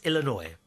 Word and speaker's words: Illinois: a Native American name so the S is silent oh where's where's the S then Illinois oh yeah Illinois yeah I have I said that before Illinois it's Illinois Native American I've been